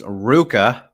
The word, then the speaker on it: RVCA: with the fun question asking how do we pronounce Ruka which I did not know for like until